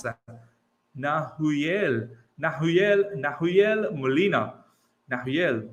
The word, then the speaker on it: Nahuel: Nahuel, like Manuel?